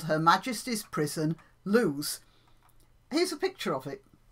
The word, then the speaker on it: Lewes: spelt le w es and it's pronounced loose so the establishment is called Her Majesty's Prison loose here's a picture of